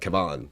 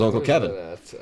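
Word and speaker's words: Kevan: But she said Uncle Kevin. Like Uncle, like not... Yeah. Not, it wasn't like Kevon. Like... It was Uncle Kevin.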